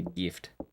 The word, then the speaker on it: GIF: Alright, I know there's been debates on it, but I'm pretty sure it's pronounced, what, GIF, right? Like the hard G.